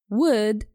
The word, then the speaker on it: would: let me repeat should would could make sure you don't pronounce the L in these three words some people do this